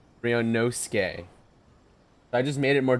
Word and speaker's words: Ryunosuke: Okay, so we said it wrong. Mr. Ryunosuke. Not Ryunosuke, Suke. Ryunosuke.